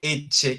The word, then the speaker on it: ecce: Cuando dice ecce, quiere decir he aquí. Suena algo como lo pronunciarían de pronto en el norte de Colombia, ecce, pero no, es con una T, ecce, ecce, he aquí.